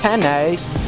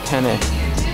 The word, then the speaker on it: penne: Not pen, but penne? Penne, how do you say that?